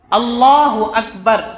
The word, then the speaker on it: اللہ اکبر: دوسرا مسئلہ تکبیر تحریمہ، اللہ اکبر، اس کا تلفظ صحیح ہونا چاہیے. یعنی اللہ اکبر اسی طرح ہمیں بولنا ہے. اللہ اکبر یہ بھی غلط ہے، اللہ اکبر یہ بھی غلط ہے. دونوں غلط ہے. نہ ہمیں اللہ اکبر کے شروع میں جو الف ہے اس کو کھینچنا ہے، اور نہ اکبر میں با کے بعد الف لگا کر کے کھینچنا ہے.